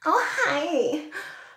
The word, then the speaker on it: Ojai: The next color we have is Ojai, which is exactly how she said it's pronounced.